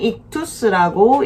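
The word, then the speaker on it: ΙΧΘΥΣ: 이거는 익투스라고 읽습니다.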